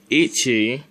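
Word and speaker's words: 一: more than one pronunciation those pronunciations are Ichi it's if you put the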